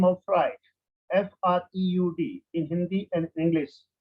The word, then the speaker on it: Freud: First, you have to keep in your mind the name of Freud, F-R-E-U-D, in Hindi and English. You have to pronounce same, Freud, Freud, fry बोलना, fry करना, उसमें ड और लगा देना, Freud.